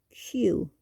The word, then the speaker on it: queue: Well, whatever the spelling of the word was at the beginning, which you probably remembered, you pronounce it Q, just like the letter Q as in queen.